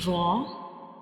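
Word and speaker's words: ر: And the second difference is Ra is a bold letter. We read it with heavy sounds like Ra. When we pronounce Ra, the sound fills into the mouth like Ra.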